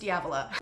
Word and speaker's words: Diavola: I did listen to the audiobook, and it's pronounced Diavola by Jennifer Thorne.